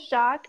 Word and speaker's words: Jacques: so is because my last name is shock but I was from Oh City so everyone will call me instead of Jacques they wouldn't pronounce the is Jacques like that